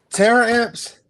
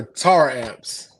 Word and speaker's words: Taramps: the car in the world okay is it Terra amps or tar amps it is torrents okay ramps we don't believe